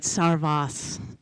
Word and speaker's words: Sarvas: I said it wrong last time. I must get it right. Sarvas.